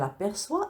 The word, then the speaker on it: aperçoit: La règle dit que la lettre C se prononce que devant les voyelles A, O et U. Il est donc nécessaire de lui ajouter une cédille pour qu'elle se prononce S.